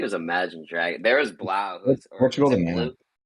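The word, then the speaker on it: 3LAU: The DJ was like the number three and Lau Blau. Is it Blau?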